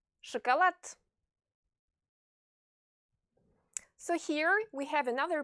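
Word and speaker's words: шоколад: Chocolate. So pay attention to the pronunciation of the two O's in the word chocolate. The stress falls on the letter A.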